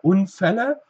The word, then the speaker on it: Unfälle: Auto lassen wir kurz weg, gucken wir Unfälle. Und hier passt bitte auch auf, das LL, das doppelte L, verkürzt uns das L. Wir sagen also nicht sondern Ä. Ja, also auch hier wieder kurz Ä.